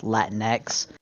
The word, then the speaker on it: Latinx: I found out recently that Latinx is actually pronounced Latinx. They don't even use the Spanish X for it. They use the English X.